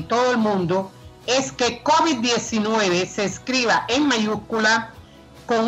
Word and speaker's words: COVID: Por eso lo correcto es decir la COVID-19 mejor que el COVID-19. ¿Ya me copia? Ahí estamos. Ahora, respecto a la pronunciación. En español la pronunciación mayoritaria es aguda, COVID. Y en inglés es llana, COVID.